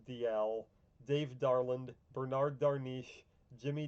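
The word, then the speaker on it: Dalziel: Yannick Dalmas, Ryan Dial, really bothers me that that's pronounced Dial, Dave Darland, Bernard Darniche,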